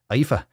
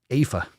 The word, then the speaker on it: Aoife: How do you pronounce that? Get the fuck out of here. Aoife. Aoife. That's it. That's it. How do you get an E out of AOI?